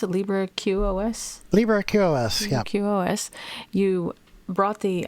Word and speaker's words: LibreQoS: I mean, you're working on, how do you pronounce it? LibreQoS? LibreQoS, yeah.